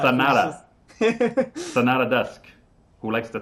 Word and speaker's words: Sonata: I keep saying it wrong. I'm like Sonoda or something like that. Sonata.